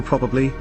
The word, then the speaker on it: probably: As a southeastern British English speaker I sometimes, under the influence, sadly, shorten the word to prabli.